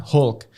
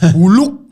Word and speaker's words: Hulk: Avengers Edition Oke jadi Harusnya kan kita ngomong kan Iron Man Captain America ya kan Hulk kalau orang Surabaya kan ngomongnya Iron Man huluk gitu kan Nah itu aku bikin